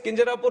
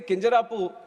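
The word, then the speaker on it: Kinjarapu: are three words here my name is kju Ram NAU and when some people say keru there might be some problem with them they can't pronounce it the way I pronounce it but that doesn't mean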